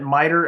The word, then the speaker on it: MITRE: some holes please either follow them at miter attack m t r e they spell it English like attack um or you know